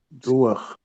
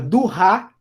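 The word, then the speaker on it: דואר: Duar. Isso, duar. Duar. Então, o último som que eu escuto é o som do ret. Duar. Duar. Se eu lesse essa palavra durra, ela estaria errada.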